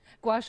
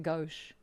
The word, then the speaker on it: gouache: Gouache always sounds like it ought to be a madeup word. I I pronounced it go the whole time.